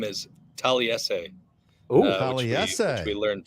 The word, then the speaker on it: Taliese: Taliese Fuaga is the newest New Orleans Saint. What are your impressions? Okay, let's first of all get the name is Taliese. Oh, Taliese. Which we learned today. Yeah, Taliese.